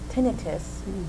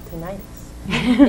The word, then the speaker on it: tinnitus: we're going to be talking about tinnitus or tinnitus it can be pronounced either way right okay so who